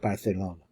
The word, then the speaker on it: Barcelona: He's pointing straight to Barcelona, pronounced Barcelona, because Fernando had a lisp. Everybody started copying his list in certain areas. That is, in the northern areas, especially in Catalonia, and it spread all throughout Spain.